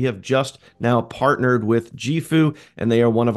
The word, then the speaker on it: JIFU: The company is called JIFU and that is pronounced JIFU.